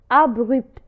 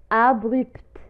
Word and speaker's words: abrupt: Troisième exception, si la lettre T est précédée du P. إذا كانت la lettre T est précédée du P مسبقة بحرف P فلا lettre T تنطق. مثال abrupt abrupt abrupt abrupt وهي تعني مفاجئ abrupt.